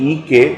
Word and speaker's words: एक: For example the word एक, एक की मात्रा वाला ए, और क is pronounced EK even though it is written EKA.